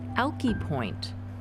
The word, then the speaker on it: Alki: after crossing the plains Brewster Denny calls it alkie Brewster Danny's pronunciation was the correct one this is based out